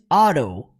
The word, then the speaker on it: Otto: Por mais que nós pronunciemos no português Peter, no inglês eles falam Peter. E o nome dele, Otto, que é Otto Octavius, o nome dele, é pronunciado em inglês Otto. Otto. Então é tudo com R, gente.